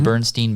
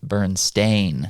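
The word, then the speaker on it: Berenstain: Like people think the Bernstein Bears, right? Barons, you spell it I-E-N. Yeah, you think. Stein. But actually it's Bernstein. Stain. A-I-N.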